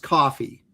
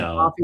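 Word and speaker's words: Ko-fi: Now, people are telling me that it's actually pronounced coffee. So, like coffee.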